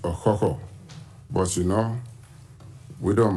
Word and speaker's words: Ọkhọkhọ: receive the bronze cockerel, which actually is rightly pronounced Ọkhọkhọ.